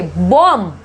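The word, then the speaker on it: bomb: जब एम के बाद आता है और टी के पहले आता है तो बी साइलेंट होता है। ओके, देखो बॉम्ब नहीं बोलेंगे, इसको क्या बोलेंगे? बॉम्ब, बॉम्ब, बॉम्ब फट गया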